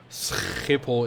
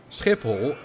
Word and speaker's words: Schiphol: Obviously, in the second, you know, Schiphol is exaggerated, but Schiphol is how it's properly pronounced. That's how you pronounce Dutch in ABN, which stands for Algemeen Beschaafd Dutch, or basically normal Dutch.